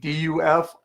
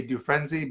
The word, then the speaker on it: Dufresne: Dufresne, D-U-F-R-E-S-N-E. People say Dufresne, but it's pronounced Dufresne. The S is silent.